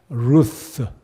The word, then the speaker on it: Ruth: 여러분 룻의 이름은 무엇일까요 영화 발음으로는 ruth 루스 그래서이 룻의 이름의 뜻은